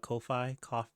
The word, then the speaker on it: Ko-fi: like to call it Ko-fi, whatever. But yeah, I know what you're talking about. Go on. Okay, but apparently they said on Twitter it rhymes with no fee, so you say it Kofi.